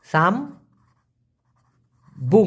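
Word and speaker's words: sambung: জোড়া লাগানো সেটা হলো সাম্বুং বুঝেন সাম বুং উচ্চারণটা হলো সাম্বুং এই সাম্বুং মানে হচ্ছে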